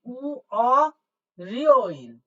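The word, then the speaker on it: 월요일: ঋউল আছে তাহলে ঋউলটা হয়ে যাবে রিও তাহলে উ রিও ইল উ রি ও ইল উ রিও ও ইল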